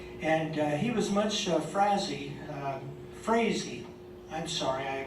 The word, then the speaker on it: Frazee: on the right and he was much stuff Frazee Frazee i'm sorry i mispronounced it crazy and i think of him as hairy crazy